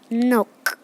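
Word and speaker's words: Nuuk: मेरे पास जगह नहीं इसलिए मैंने यहाँ लिखा है नुक। नुक इसका प्रोनाउंसिएशन है, ठीक है गाइस, नुक।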